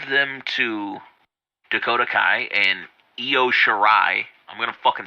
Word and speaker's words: Io Shirai: But her name is goddamn Io Shirai.